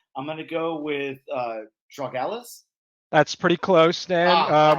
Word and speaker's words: Drogalis: hopefully but uh I'm gonna go with uh dra Alis that's pretty close then uh most most people get the the Tom part right which is lucky uh and it's pronounced drogalis so it's close enough I usually will not